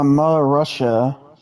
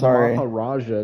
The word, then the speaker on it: Maharaja: was released Not My Mother Russia Your Mother Russia what Mahar Russia I I don't I don't know how they pronounce it that well it's Maharaja not Mother Russia what the [ __